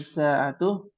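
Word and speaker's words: ساعة: Liman hadhihi sa'atu? Hmm. Hadhihi hadhil hadhihi sa'a hadhihi sa'atul libnil mudiri. Iya, li benil mudiri ya barakallahu fik. Libnil Ya, mudiri. bacanya masih belibet ya. Iya. Hadhis sa'atu. Sa'nya yang panjang.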